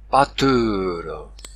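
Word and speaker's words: pastor: Mais non, il faut prononcer façon 13e siècle. Pâteur, c'est-à-dire le S implosif, c'est-à-dire qui termine la syllabe. Le S implosif est tombé. Il ferme la voyelle en l'allongeant. Pas. Pensez au mot pâtre.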